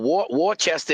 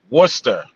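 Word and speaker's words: Worcester: Well, Warchester is different.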